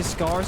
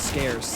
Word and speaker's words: scarce: he says scar yeah I say scars instead of scarce which sounds like you're